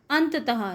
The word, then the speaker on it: अंततः: साथ रहूंगा अतः अंततः यह जहां पर दो विसर्ग होते हैं यह दौड़ जो लगे थे इनका हक उच्चारण आता है इसलिए इसको हम पढेंगे अंततः यानि अंत में यह